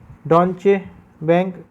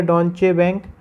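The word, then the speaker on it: Deutsche Bank: तो देखिए ये है डॉन्चे बैंक। तो ये इसकी प्रोनाउंसिएशन यही रहेगा, डॉन्चे बैंक।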